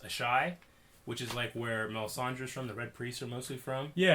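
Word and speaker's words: Asshai: Maybe to I think it's pronounced Ashai, which is where Melisandre's from, the Red Priests are mostly from.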